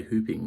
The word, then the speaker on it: whooping: Okay, the main reason we use this word is like whooping cough, and we say hooping like with an H sound, but I think whooping is also a pronunciation.